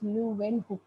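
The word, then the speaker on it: Leeuwenhoek: और उनका full name था एंटन वॉन लुवेन हुक, है ना, प्रोनाउंस लुवेन हुक, राइट।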